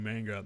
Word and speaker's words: manga: word if I write a manga it's actually pronounced manga but I've given up uh about God dying